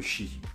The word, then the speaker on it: Qi: sans fil avec la norme chi ou qi se répondent comme on le prononce en gros si vous